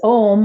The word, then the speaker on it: Om: It's Om, O-M, which looks like a pretty simple, easy way to say it, but it's actually pronounced as three syllables.